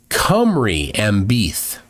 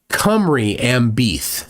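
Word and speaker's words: Cymru am Byth: Cymru am Beath. All right, so the Y gets a hard U sound. Okay. Cymru am Beath. So the other Y gets a hard E sound.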